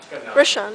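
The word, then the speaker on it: Rochon: The letter says, "Dear President Roshan," is that how you pronounce it? Roshan. Roshan? Roshan, yeah.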